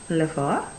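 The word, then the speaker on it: le four: you have the oven flaffer like the number four lefor that's oven then we have fridge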